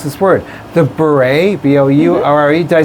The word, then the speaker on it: bourrée: This is, I don't know how to pronounce this word, the Bourrée, B-O-U-R-R-E, did I say that right? Yep. The Bourrée from George Frederick Handel's Water Music Suite No.